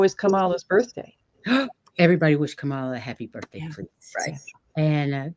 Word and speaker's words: Kamala: kamala's birthday everybody wish Kamala a happy birthday please and go give some mother sorry I said it wrong Kamala comma I fixed it it's hard it's because